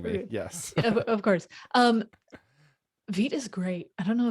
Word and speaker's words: Vite: And also I have learned it's Oh, pronounced Vite. Vite.